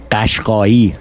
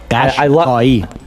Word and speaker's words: Ghashghai: So I'll say it the correct Persian way. It is Ghashghai. Wow. Ghashghai.